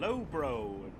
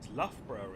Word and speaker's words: Loughborough: about the pronunciation because he was like how do I say lay cester and low bro no no it's Loughborough and Leicester and Derby not Derby